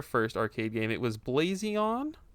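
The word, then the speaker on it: BlaZeon: It was Blazion, is how I'm going to pronounce it. It's BLA with a capital Z, Eon. Blazion.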